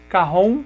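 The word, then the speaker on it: cajón: ele é um instrumento de origem peruana então se escreve carrão com j.c.a.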